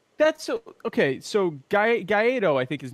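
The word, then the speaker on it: Guaidó: So Guaido, I think his name is. Have we established his name's Guaido? It's spelled Gaido.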